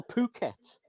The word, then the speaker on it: Phuket: Do you say Phuket or Phuket? It's Phuket, isn't it? I think it's pronounced with an F, like an F, Si.